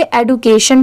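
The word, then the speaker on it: education: यहां पर आप इसे एडुकेशन भी पढ़ सकते हैं। तो यहां पर ई डी यू को आप एडू भी प्रोनाउंस कर सकते हैं।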